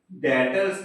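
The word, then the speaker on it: debtors: इससे जो स्पेलिंग होती है वो ये होती है डी ई बी टी ओ आर एस बच्चे बोल्टेज तो डेटर्स है बी साइलेंट रहता है आप लोग आने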